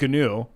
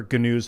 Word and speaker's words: GNU: He made a software based off of Unix and he called it GNU, GNU, and it stood for GNU's not Unix. Yeah. But GNU is the word new. It's an animal.